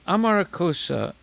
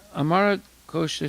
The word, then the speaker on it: Amarakosha: In the Amarakosa Sanskrit dictionary, the word murti carries In the Amarakosha Sanskrit dictionary, the word murti carries import in 2-fold meanings. So we see there's different ways of pronouncing the same word.